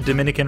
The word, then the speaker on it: Dominica: actually invented in canada nope not the dominican republic this small caribbean nation pronounced dominica is famous for its